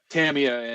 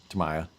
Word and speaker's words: Tamiya: between Tamiya and EVGA, they put up pretty much everything.